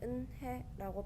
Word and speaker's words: 은혜: 응, 그런데 은혜라고 발음하는 거야.